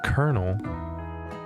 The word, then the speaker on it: Colonel: the end of this it's called colonal it's spelled colonal but it's Colonel what a difficult word Colonel Sanders probably short